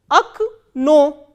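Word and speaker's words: окно: The word that we are doing now is o, ka, na, o, and stress is on second o. So, how will we pronounce this word? Ak, no, ak, no.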